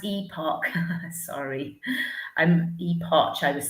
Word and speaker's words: Epoch: Sorry, someone's saying it's pronounced epoch.